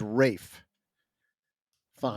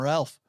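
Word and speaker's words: Ralph Fiennes: Can we talk about how to say his name because I'm pretty sure the right way to say his name, which is ridiculous, is Rafe Fines.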